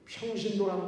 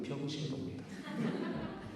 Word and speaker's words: 평신도: 여러분들 평신도란 말 저는 좋아하지 않아요. 평신도 발음 잘못하면 병신도입니다.